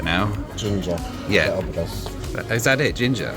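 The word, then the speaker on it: Ginja: Ginger. Yeah. Is that it? Ginger? Oh, it is just, you say it ginger.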